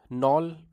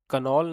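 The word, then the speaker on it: knoll: नॉल पढ़ना है इसको, कनॉल नहीं पढ़ना है। के इज साइलेंट ओवर हियर।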